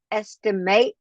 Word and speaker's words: estimate: The verb is estimate. The noun is estimate. The pronunciation is different.